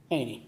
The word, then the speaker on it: Haney: Haney. Haney?